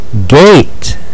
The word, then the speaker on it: gate: But Buddy E over here is silent. He's just there to encourage Mr. A to say his name, like in eight, brave, and gate.